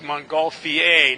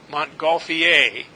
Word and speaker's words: Montgolfier: balloon and the Montgolfier it's a French name and it's pronounced Montgolfier not fear or fire Montgolfier those brothers were the